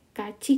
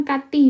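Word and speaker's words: 같이: berolahraga bersama keereo Oke Kaci Kayo Ayo pergi bersama kan Kaci itu bersama ya Kaci Kenapa bukan Kati bacanya karena itu kembali lagi ketika e Bim yang t ini bertemu I jadinya ka ya mau pergi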